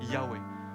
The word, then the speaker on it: Yahweh: Le nom le plus possible et la prononciation la plus possible, Yahweh.